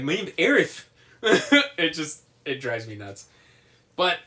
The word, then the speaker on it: Aerith: pronunciations, which is why they also went with Aerith instead of Eris.